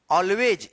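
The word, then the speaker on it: always: गॉड ऑलवेज यहां पे एस का उच्चारण आपने देखा होगा। ठीक है? क्या है? कि जब वाई के बाद लास्ट में एस रहता है तो एस का क्या उच्चारण होता है? ज उच्चारण होता है ऑलवेज it's something to make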